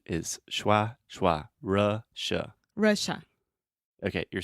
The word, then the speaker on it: Russia: Russia so with Russia Russia so the correct pronunciation is Russia okay you're saying Russia you're almost saying Lightroom